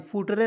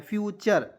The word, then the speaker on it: future: और से लिखेगा FUTURE, फुटरे नहीं पढ़ना है, फ्यूचर, फ्यूचर।